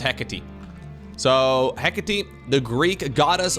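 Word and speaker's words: Hecate: we find ourselves on the map hecky heate heckit no apparently it's pronounced hecky so hecky the Greek goddess of boundaries transitions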